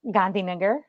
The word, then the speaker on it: Gandhinagar: Gandhinagar.